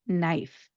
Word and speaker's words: knife: When we are pronouncing this word, what we're going to do is we're not going to pronounce the K.